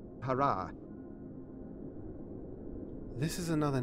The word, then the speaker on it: Harah: of still God's wife it is not pronounced Hara it is pronounced Hara as Frank Herbert says Hara this is another name